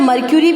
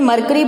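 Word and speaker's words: Mercury: देखिए मरकरी क्या है, ये इसे आप मर्क्यूरी बोलते हैं, बहुत से पर्सन इसे मरकरी बोलते हैं। So both pronunciations are right.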